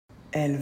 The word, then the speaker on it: elles: que il au singulier elle c'est pour parler d'un groupe exclusivement de femmes exactement pareil que pour il on ne prononce pas le S donc on entend le même son que pour elle au singulier cependant lorsqu'on fait la